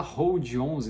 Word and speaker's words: HODL11: Mas por que a gente fala Hold 11, né? Hold é de segurar, seria o L antes do D, mas ficou por um erro aí de pronúncia, ficou o HODL 11, mas as pessoas acabam pronunciando Hold 11.